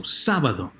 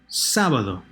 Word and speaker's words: sábado: So sábado, sábado. 3rd to last syllable is stressed.